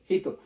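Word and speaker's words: ひと: এই শব্দটার উচ্চারণ হচ্ছে হিত।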